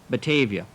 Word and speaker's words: Batavia: from the Dutch language meaning fair meadows and pronounced Batavia.